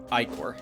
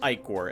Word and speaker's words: ichor: I looked up how to pronounce ichor, and there was some amount of, leeway. Apparently, ichor is also acceptable, but I'll keep calling it ichor, since that's how this game pronounces it. There's apparently a true way to pronounce it, which isn't either of them. The way it was pronounced over in Greek, or is that right? Yeah, the original Greek pronunciation, and I'm totally not using that either.